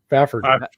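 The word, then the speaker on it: Fafhrd: I assume this you're supposed to say, how do you pronounce this name? Fafford.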